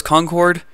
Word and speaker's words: Concord: I thought that was Concord. Everyone pronounces it in the game like Concord. I looked it up, and apparently that's how Bostonians actually say it.